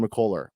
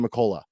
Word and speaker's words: McCullar: here Fran pronouncing Kevin mccoller I don't know what was up with it why did he keep calling him Kevin mccola like it was like a ah at the end of it is is or missing